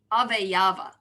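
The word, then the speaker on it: avayava: consists of five members of avaya no of ave yava that's how to pronounce it or component parts first the proposition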